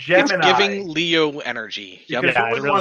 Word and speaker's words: Gemini: she I prefer definitely it's Gemini. giving Leo energy. Yep. Because Yeah, who it would want a really gem in their eye? It's not boy. Gemini, it's Gemini.